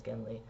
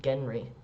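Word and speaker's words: Genly: it's it's pronounce um Genry by all the locals cuz they can't pronounce the letter r or L they pronounce the letter L is R so anyway um that's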